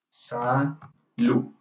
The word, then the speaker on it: salud: Na verdade, a pronúncia mais próxima seria como se você fizesse um U com um acento. Aqui, ó. Vou mostrar. Se você fizesse isso aqui. Salu. Mais ou menos isso. Salu. É porque pra gente é estranho uma palavra terminar sem uma vogal. Aham. Sim. Sim, exatamente. Salu. É como se fosse um acentuado. Só que se você conseguir colocar a língua no dente, assim, salu, é a palavra certa.